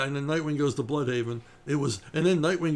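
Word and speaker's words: Blüdhaven: And Scott would delight in pronouncing the name Bloodhaven, which he would do in this faux Swedish accent. So it was never, oh yeah, and then Nightwing goes to Bloodhaven.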